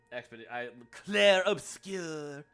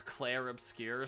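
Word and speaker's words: Clair Obscur: It's like I'll just say it like a shitty French, Claire Obscure. Yeah, that sounds very Americanized since the game is technically French based.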